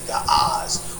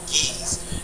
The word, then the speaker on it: Ge'ez: The ancient is Ge'ez, some would say Ga'az, or some pronounce it Giz.